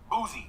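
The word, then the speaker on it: Boosie: I saw his response I say his name wrong booy booy I say booy booy like booze okay booy booy booy with an S not a z all right right well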